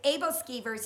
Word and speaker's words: aebleskiver: how to say that word I'm horrible at pronunciation and it's aebleskiver and I've got the little pot thing that